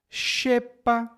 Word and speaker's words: xepa: No começo das palavras, normalmente tem som de sh. Xícara, como a xícara de café. Chale, que é uma peça de vestuário. Xepa, que é a sobra de alimentos.